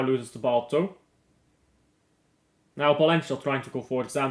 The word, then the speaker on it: Valencia: But the Spanish V is a B sound. So Valencia is pronounced Valencia.